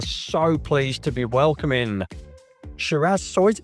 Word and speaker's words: Shiraz Soysa: We are so pleased to be welcoming Shiraz Soysa. Did I pronounce that correct? Yeah, that's right.